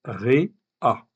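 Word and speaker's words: רֵעַ: Donc ça se prononce Ré-A.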